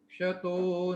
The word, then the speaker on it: क्षत: ये न क्षता, इसमें क और श, ये क्ष होता है। जनरली अलग अलग प्रदेशों में इसका उच्चारण अशुद्ध रूप में किया जाता है। मध्य भारत में लोग इसको छ की ध्वनि में उच्चारित करते हैं, और राजस्थान की तरफ की बात करें तो वहाँ श ही बोल देते हैं, इसका